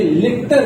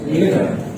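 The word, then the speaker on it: letter: इसी तरीके से ये लेटर नहीं है, this is लेटर, this is wrong, this is right.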